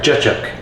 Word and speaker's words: cacık: Is it cacık? Because if I was reading it, I would say cacik or cacık. But I heard it on a video, somebody said cacık.